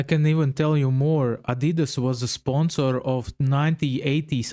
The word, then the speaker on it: Adidas: I'm talking about Adidas as we say in German or Adidas as Americans say.